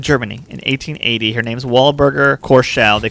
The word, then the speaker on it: Walburga: Her name's Walburga Korschel. They called her for short. And she... Wait a minute. Her first name is Wahlberger? Walburga.